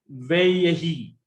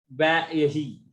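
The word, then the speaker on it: וַיְהִי: Now the pronunciation is veyahi. This also they don't like. So what they do, they remove this doubling dagesh, and it will become vayahi.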